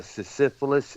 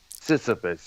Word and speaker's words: Sisyphus: Sisyphilus, I think that's what it's Sisyphus. pronounced. Sisyphus, yeah, that features Richard Wright.